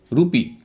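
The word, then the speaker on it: rupee: रूपी, रूपी में दो सिलेबल है, इसमें तीन वोवल हैं, लेकिन चूंकि आखिर के दो वोवल का एक ही उच्चारण हो रहा है तो उनको एक ही मानेंगे। तो एक सिलेबल हुआ आर यू, दूसरा सिलेबल हुआ पी डबल ई। पहले सिलेबल के अंत में यू है, उसका उच्चारण होता है ऊ, रूपी।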